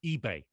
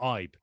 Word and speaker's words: Ibe: was uh told that the correct way to pronounce his name truly was ebay not ibe that might be true from his heritage but